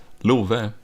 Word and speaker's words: Love: Okay, so my name is Love, or though in Swedish it's pronounced Love.